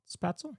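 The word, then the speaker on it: Spätzle: How do you pronounce that? Spatzel? Spatzel? Yep. I'd say spatzel.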